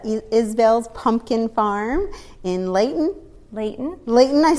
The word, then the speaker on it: Leighton: Leighton, I yes.